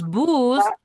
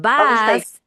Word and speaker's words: bus: Okay, bus station is the correct pronunciation because bus boo is in Spanish but bus is the pronunciation in English.